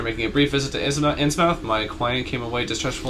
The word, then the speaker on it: Innsmouth: Innsmouth is technically incorrect. It's Innsmouth. Anything with mouth in an English town is pronounced muth.